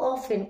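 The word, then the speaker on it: often: কম এরকম বোঝাবে শুভ অফেন play game outside শুভ অফেন এটাও কি কখনো কখনো সে বাইরে খেলতে যায় এই যে এখানে টি সাইলেন্ট এটা কি ফ্রিকোয়েন্সি জ্যাকব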